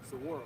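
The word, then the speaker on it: Saguaro: What's the How do you pronounce the name of the park? Sora.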